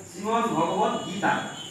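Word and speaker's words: শ্রীমদ্ভগবদ্গীতা: বলো আর না বলো শ্রীমদ ভগবত গীতা, কোনটাই বলো না, শ্রীমদ ভাগবত গীতা হয় না, শ্রীমদ ভগবত গীতা উচ্চারণ আগে দেখুন, শ্রীমদ ভগবত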